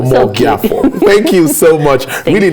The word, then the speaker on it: Omogiafo: Did I get the pronunciation Omogiafo. Right? Omogiafo.